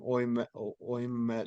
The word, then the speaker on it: Ouimet: That's with it's supposed to be with how do you pronounce his name? Oymet.